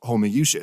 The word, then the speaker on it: Homoiousios: really fucking funny, but apparently it actually is pronounced Homoiousios.